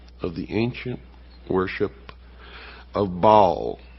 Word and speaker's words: Baal: the ancient worship of Baal our bail is some pronounce it ma was the Sun